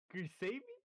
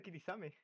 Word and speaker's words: Kirisame: Como? Kirisami? Yeah, Kirisami. Marissa Kirisame. Oh, Kirisame. That sounds right.